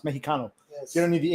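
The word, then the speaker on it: México: In uh in Spanish, the X makes an H sound. So, it's spelled Mexico, but it's pronounced Mexico.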